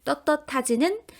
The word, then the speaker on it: 떳떳하지: 발음은 어떻게 생기게 되었냐면 두 번째 음절에 있는 떳의 받침 시옷이 디귿으로 발음이 되고 그 디귿이 뒤에 오는 히읗과 만나 자음 축약을 일으키게 돼요. 그래서 그것이 티읕으로 바뀌게 되는 겁니다. 그러니 떳떳하지는 시옷 표기가 발음으로 디귿이 되는 음절의 끝소리 규칙과 그 디귿이 뒤에 오는 히읗을 만나 거센 소리 티읕이 되는 자음 축약까지 일어나고 있구나라고 분석할 수 있겠죠.